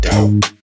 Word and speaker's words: doubt: silent knock sounds like knock because the k is silent doubt sounds like doubt because the b is